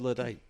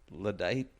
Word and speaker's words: Luddite: But also, I never heard Luddite. you're saying it very wrong every time. Luddite? Yeah, Luddite. Luddite. Yeah. Luddite. Yes. Not Luddite. I'm adding a syllable. Yeah. You were doing the emphasis wrong.